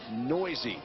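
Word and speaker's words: Neuse: from Fort Worth Sheldon noisy and when you see the last name and the way it's spelled I can only promise you that noisy is the proper pronunciation you might have the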